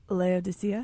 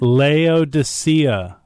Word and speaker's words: Laodicea: Laodicea. Laodicea.